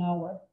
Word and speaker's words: hour: Entonces no hay sonido de J, entonces por eso va el an, para que sea an ear, an honor, an hour, an hour, an hour.